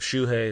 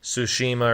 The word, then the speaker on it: Tsushima: I always call it Ghost of Shuhei. It's called Ghost of Tsushima or something.